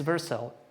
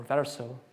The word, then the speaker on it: Vercel: most use cases is Vercel, or Vercel. I'm going to pronounce it Vercel.